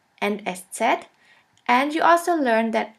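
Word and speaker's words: Eszett: alphabet which looks like this we call it s set s set or sha s sha s which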